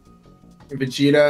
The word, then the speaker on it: Vegeta: got goeta and V I like that you're pronouncing both of those terribly wrong are those actual people yes yeah Vegeta and then Gogeta is